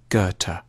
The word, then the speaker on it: Goethe: supposed to say it a safe bet is to start with a hard G on ger and end with a Turk goethe johann wolfgang von goethe has often been seen